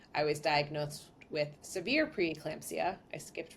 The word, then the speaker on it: preeclampsia: an eye out for preclampsia which a lot of us pronounce as preclampsia myself included but if you specifically look it up it is preeclampsia and so they started